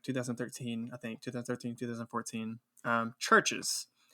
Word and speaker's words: CHVRCHES: Churches. And that's spelled, instead of a U, it's CHVRCHES.